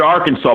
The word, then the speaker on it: Arkansas: where that is Arkansas okay Arkansas but you pronounce it Arkansas but if you spell it out it looks like Arkansas's I believe yeah Arkansas um so there's a